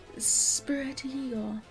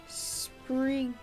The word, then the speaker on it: Sprigatito: Spiritigo, that's not how you pronounce it. Sprigatito. Okay, there we go.